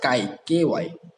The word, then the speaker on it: chi: Okay, here you can see it is written as chi, that is a chi square, but actually it will be pronounced as ky, chi square distribution.